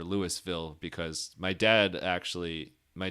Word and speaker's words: Louisville: So, so Loville, which if you notice, the reason I'm I don't know if I technically say it right as a local would say it. However, um I don't say it as Louisville or Lewisville because my dad actually